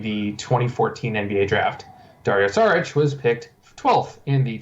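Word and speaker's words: Šarić: Saric, apparently, is how you pronounce it.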